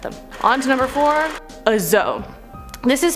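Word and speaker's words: dzo: want 10 of them on to number four azo this is spelled d-z-o or d-z-o the zo is a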